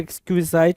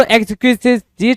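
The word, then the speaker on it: exquisite: एक्सक्विजिट, एक्सक्विजिट कुछ लोग पढ़ेंगे, कुछ लोग एक्सक्विजाइट पढ़ेंगे, कोई इशू नहीं होगा जी, दोनों में कोई जो भी प्रोनाउंसिएशन है ठीक है। तो एक्सक्विजिट की मीनिंग क्या है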